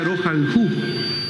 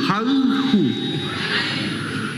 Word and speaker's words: rojalhu: Te quiero mucho significa rojalhu. Rojalhu. No es jaihu, jalhu. Es una i gutural.